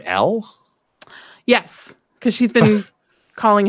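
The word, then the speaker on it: Elle: L, is his name L? Yes, because she's been calling him L the entire time. They spell it E-L-L-E, like a girl's name.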